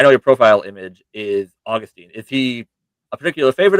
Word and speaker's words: Augustine: So for Augustine, not to make a big deal, but it's actually pronounced Augustine, actually.